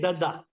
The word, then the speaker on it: Dadda: Dadda. It's Dadda. Dadda. How you pronounce the Chadda, na? You have heard Chadda. her name Chadda. Cut the C and put the D. Dadda.